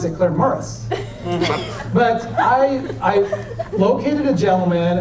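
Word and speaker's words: Claremorris: for Claire Morris now they don't pronounce it Claire Morris they pronounce it Claire Morris but I located a gentleman and I started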